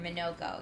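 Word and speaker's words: Monoco: Vald's Foot allows Monaco to use a new skill. All right. Or Manoko, excuse me, I always say his name wrong.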